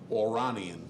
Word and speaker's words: Oranian: Oranian, because it's Aura and double N, so I'm going to say Third foal from Oranian.